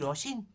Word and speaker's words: Oshin: Aye, that's right, said Una, this is our Oshin. rhyming with Ochter Torshin.